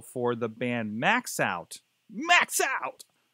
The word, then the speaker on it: MaxxOut: the band max out max out i think it's a way it should be pronounced uh actually the band